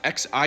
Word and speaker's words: Xi: Well, technically in Mandarin it's Xi, but the closest approximation would be She or Si. Like, I get it, you don't need to learn Mandarin to just pronounce people's names so you can approximate it, but like She is easier to pronounce than Zhee, and it's closer.